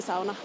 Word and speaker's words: sauna: indoor pool with a sauna say SAA that's the Finish way to pronounce SAA I guess but just so you know it's SAA that's what you should be saying and it's kind of